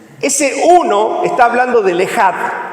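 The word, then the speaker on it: אחד: Este término ginosco, hablando de la palabra conocer, tiene su complemento en hebreo, que se escribe echad, pero se dice ejad.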